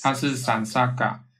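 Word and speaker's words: saṃsarga: 'sansarga' This is not Sansara. It's Sansarga. This means 'touching', making contact. It has two parts, 'san-', or 'sam-', and 'sarga'. By itself, sam, when in combination with S it changes to S-A-N. The pronunciation changes to san, sansarga.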